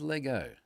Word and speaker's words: Lego: and instantly it is Lego. If you're listening for somewhere else and you're saying, why isn't he saying Legos? It's because I'm saying it right.